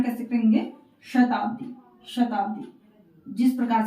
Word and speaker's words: शताब्दी: तालु से इसका उच्चारण करना है। इस श का उच्चारण करते हुए इन शब्दों को पढ़ना है, जैसे शताब्दी, शिरोमणि, शिक्षा, राशि, ईश, शिव, शुद्ध।